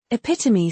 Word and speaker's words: epitome: Epitome sounds like epitomi.